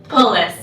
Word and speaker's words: Pullars: It's It's Pullars, right? Pullars, yeah. It's Dutch.